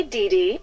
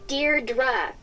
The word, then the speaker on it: Deirdre: sonnet or something hi didi Deirdre I know it's got that tricky second syllable but I figured it out by age two don't give up you'll